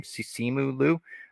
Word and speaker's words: Simu Liu: I thought Simu Liu, I believe that's how you say his name, Simu Liu, he was fantastic as that character.